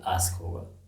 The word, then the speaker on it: ask: Well you got it right, there is a pronunciation error here, it is not "aks" but "ask". Some people hastily call it "aks" so it is ask not aks.